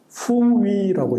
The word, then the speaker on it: 부여: 우리는 부여라고 읽습니다. 그러면 중국은 어떻게 읽느냐? 후위라고 읽어요.